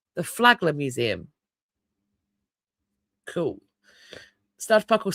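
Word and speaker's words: Flagler: Apparently, it's pronounced Flaggler. The Flaggler Museum.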